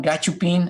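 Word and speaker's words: gachupín: If you say to Spanish gachupin, and that's the pronunciation, gachupin, a Spaniard born in Spain, is a derogatory term, right?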